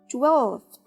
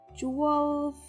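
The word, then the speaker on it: twelfth: it with the f 12th 12th it doesn't work so we don't pronounce the f we just skip it for example if you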